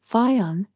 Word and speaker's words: Fionn: To capture the essence of Ireland and its people, there's a perfect word, Fionn, pronounced F-U-N.